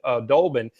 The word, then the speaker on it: Doblin: I was like, it does spell Doblin, but I pronounced it Dolbin, because the day when